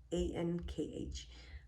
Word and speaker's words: Ankh: There are universal symbols like Om and, I don't know if I'm going to pronounce that right, A-N-K-H, Ankh, that means similar things around the world, but most symbols will be personal to you.